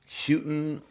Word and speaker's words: Houghton: last Houghton? So some people say Houghton and some people say Houghton.